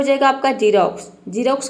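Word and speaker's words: Xerox: तो देखिए जब वर्ड के शुरू में एक्स आता है तो वहाँ पे एक्स को हम ज प्रोनाउंस करते हैं, जैसे कि जीरोक्स। यहाँ पे देखिए एक्स शुरू में आया है तो एक्स का ज हो जाएगा, आई का हो जाएगा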